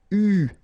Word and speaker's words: eu: so it's an exception, it is pronounced U, okay? U, that's the way you should pronounce it.